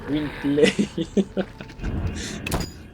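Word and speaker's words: Gwynbleidd: It's pronounced Gwynblade.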